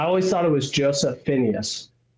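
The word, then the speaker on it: Fiennes: I always thought it was Joseph Phineas. Is it Joseph Fines or Phineas? I think it's Fines. Okay. Anyways, does it does look like if you're an American, you would pronounce it Phineas, I think.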